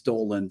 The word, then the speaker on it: Dowland: Some people say the pronunciation is Dowland. So, but I always called them John Dowland.